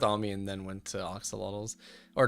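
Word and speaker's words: axolotl: Fun fact, Oxalotl cannot be pronounced correctly in English. The closest we can get is Acolot.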